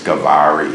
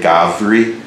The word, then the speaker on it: Gowri: They will either say Gavri or Gowri. And the most common pronunciation is Gowri.